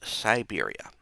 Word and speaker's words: Syberia: a culture known as Siberia. This is spelled with a Y not an I.